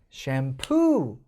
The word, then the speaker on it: shampoo: 이거 샴에 있을 것 같은데 샴푸 뒤에 강세가 있어요. 그래서 친구한테 야, 나 샴푸 좀 뭐 빌려줄래? 샴푸. 못 알아듣는다는 거예요. 그리고 샴도 아니에요. 이거 보면 A랑 E랑 막 이렇게 붙어 있죠. 이거 에 발음이거든요. 샴입니다. 샴이 아니에요.